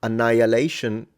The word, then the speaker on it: annihilation: Interestingly enough, annihilation, you don't pronounce the H.